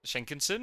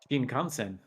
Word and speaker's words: Shinkansen: Haven't I heard if the bullet train, the Shinkansen, is that how you pronounce it? I'm going to pronounce that wrong. Shinkansen.